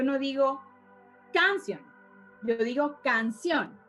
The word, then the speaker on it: canción: Yo no digo canción, yo digo canción. Yo no digo pared, yo digo pared.